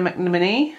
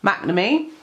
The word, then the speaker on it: McNamee: tin an Dalek by Edwina Mac Mini oh but I can pronounce her name normally McNamee I've got Ruth Sanderson's